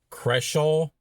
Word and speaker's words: Creshaw: Creshaw. I guess you say it like as if you're going to say Crenshaw, but not the N.